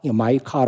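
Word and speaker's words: Micah: 고민하다가 마지막에 결정한 이름이 마이카 성경에 나온 미가 마이카 라고 발음하지 줘 마이카 라고 이름을 정했다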